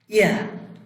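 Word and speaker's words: ear: এন্ট, পিঁপড়া, এক্স কুড়াল, elephant হাতি, এলিফ্যান্ট হাতি, ইয়ার কান। আর এর উচ্চারণ আমরা করব না, কিন্তু এখানে নিচেরটাতে আর উচ্চারণ হবে।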